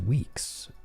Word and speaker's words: WEX: hacker he's a hacker it's pronounced weeks weeks oh wex is weeks well you know what I pronounce it wex I pronounce things weird